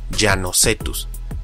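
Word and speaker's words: Llanocetus: Pero, ¿qué pasa si la doble L está al inicio, como en este nombre? Ahí se pronuncia como en español, Llanosetus, y es que la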